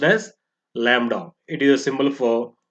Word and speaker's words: lambda: is denoted by the symbol lambda it is pronounced as lambda it is a symbol for wavelength it is